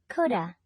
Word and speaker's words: coulda: pronunciation in casual speech modals Plus have are often reduced in the following way standard form could have could not have reduced form Coulda Coulda standard form should